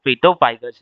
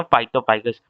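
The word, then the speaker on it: phytophagous: वो खुद पिटोफाइगस हैं। फाइटोफाइगस है। पेटोफाइगस बोल दिया मैंने गलती से गलत प्रोनाउंस कर दिया। ये होते हैं फाइटोफाइगस।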